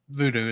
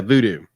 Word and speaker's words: Vudu: most um uh it's on a voodoo video voodoo is how to pronounce yeah voodoo yeah voodoo thank you yeah it's available on